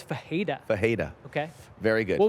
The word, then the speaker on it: Ferreira: So Ferreira is Fajeda.